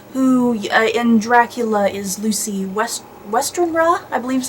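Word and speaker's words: Westenra: follows Lucy Weston, who in Dracula is Lucy Westernra, I believe is how her last name is pronounced.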